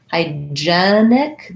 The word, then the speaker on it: hygienic: gene that i wear hygienic then also hygiene has first syllable stress but hygienic has second syllable stress so the vowel changes there hygienic this first vowel